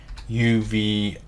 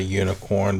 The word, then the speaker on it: Uvicorn: and we didn't install Uvicorn. I always want to say unicorn, but it's like Uvicorn. However you pronounce it, Uvicorn, I guess.